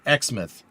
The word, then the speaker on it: Exmouth: Pronounced Exmouth.